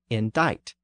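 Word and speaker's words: indict: is also found in the word indite which is pronounced a little differently but still typically spelled di C it meant to accuse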